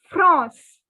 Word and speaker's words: France: change our spelling but the pronunciation of france in the french language is france france so the n would be a nasal sound again so no technically